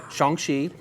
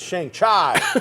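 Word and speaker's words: Shang-Chi: maybe we've got shangshi we've all been saying it wrong okay shangshi it's shang chai you've got one division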